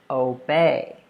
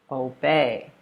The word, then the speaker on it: obey: communicates meaning all right let's look at when you put stress on the second syllable so we have these verbs here according to the rule so the first one is obey obey with that emphasis on